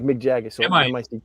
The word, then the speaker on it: Mic: So M-I-C-K. It's M-I-C. Mick. It's pronounced Meek.